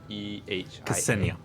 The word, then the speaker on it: Ksenia: It's Ksehia. Ksenia. Ksenia. That's not an H, that's an N.